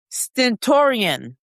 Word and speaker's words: stentorian: And then I'm going to spell it. Stentorian.